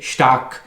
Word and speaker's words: stark: या जैसे एस और टी के कॉम्बिनेशन शे होता है, जैसे स्टाक, STARK, जिसका मतलब होता है स्ट्रॉन्ग।